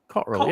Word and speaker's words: Cotterill: Cotterill, yeah. Cotterill. We're going to pick everything up. It's got 3 syllables. Cotterill. Cotterill. That's 3 syllables.